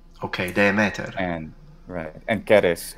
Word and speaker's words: Ceres: And Keres, of course, for the classical Latin pronunciation. Classical Latin, because you have a K, and is the A long or just all short? Just all short. Keres.